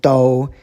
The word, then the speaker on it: 兜: This is a funny first tone do.